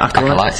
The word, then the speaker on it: Acolyte: Let's talk about the album, Acolyte. That's how you say it, isn't it? Acolyte, yes.